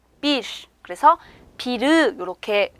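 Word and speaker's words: bir: 마지막에 위치를 했죠 자 이 때는 비를 이렇게 발음 하시는 것이 아니라 조금 바람 빠지는 소리가 납니다 한번 해볼게요 비 빗 그래서 비르 이렇게 래 소리가 정확하게 나는 것이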